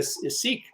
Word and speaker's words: Sikh: And so she's a lot of churches invite her to come speak, even though she's a Sikh. Or they pronounce it sick, but people get confused.